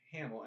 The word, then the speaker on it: Hamill: But yeah, Mark Hamill. I always knew it as Hamil, but it's Hamill. Hamill. I mean, it's probably pronounced Hamill.